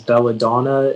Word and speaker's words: belladonna: all the information yeah so uh the only pronunciation is belladonna it's a noun and it comes from italian